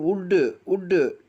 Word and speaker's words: wood: முதல் கட்டத்தில் WOOL உள் கம்பளி, அந்த டபிள்யூக்கு உச்சரிப்பு இல்லை. அதே மாதிரி கீழே பாருங்க, உள்ளன் எப்படி படிக்கணும்? டபிள்யூ விட்டுறணும், உள்ளன் கம்பளி துணி. அடுத்து உட்டு WOOD உட்டுன்னு தான் படிக்கணும்.